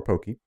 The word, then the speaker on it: Pocky: they provided is simple it's like rocky except with a p the name or poki was inspired by the